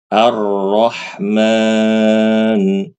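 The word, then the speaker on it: الرحمن: Ramadan Ramadan rnya tebal Ar Arrahman arah Rahman ya dibaca tebal berarti Ustaz kalau ada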